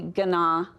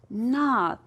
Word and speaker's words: gnaw: Are you wanting to say gana? I knew you would want to say gana. It's not gana, it's a silent letter. It just says na. Remember, like your dog likes to gnaw on a bone?